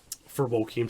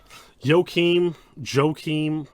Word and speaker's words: Joachim: so very epic for Joachim to get that. Joachim, I say Joachim, Swedish names I pronounce with a soft J, you know, but I could be wrong, so I'll say Joachim until he corrects me.